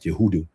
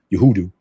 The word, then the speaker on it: Yehuda: Ba- basically it's like Yehuda Yehuda.